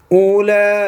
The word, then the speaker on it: أولئك: हैं बज़ाहिर हमने पढ़े इनके कवायद हैं क्यों साइलेंट कैसे होती उलाइक अस्हाबुल जन्नह أصحاب الجنة जन्नह आगे बात है